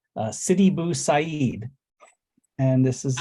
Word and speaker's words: Sidi Bou Said: But the band is it's pronounced Sidi Bou Said, and this is like I said, band out of London.